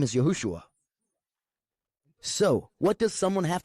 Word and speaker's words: Yahushua: But when we go to pronounce his name, we should say it the way his mother, his earthly father, his stepfather, his friends, his brothers and his disciples called him Yahushua.